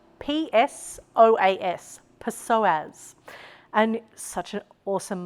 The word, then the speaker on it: psoas: The next shape that we are going to find together is another personal favorite, and it's a psoas stretch.